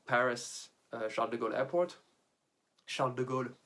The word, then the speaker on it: Charles de Gaulle: Charles de Gaulle, for those who do not have the French pronunciation, that's Charles de Gaulle. I really can't say that without the French.